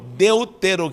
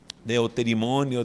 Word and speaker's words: Deuteronômio: chama números e Deuteronômio Deuteronômio que muita gente se confunde ao pronunciar de eu ter imonio deutero de nome o